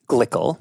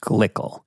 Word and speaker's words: Glikl: I believe that means it's supposed to be pronounced Glikl.